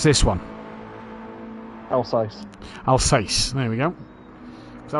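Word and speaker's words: Alsace: you you're a GT player how would you pronounce this one alce alce there we go CU I was going to go with Alice but that makes more sense um Alice Alice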